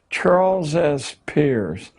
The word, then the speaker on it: Charles S. Peirce: It's pronounced Peirce, but it's spelled as if it were Pierce. Charles S. Peirce, a strange figure, a part-time lecturer at Harvard,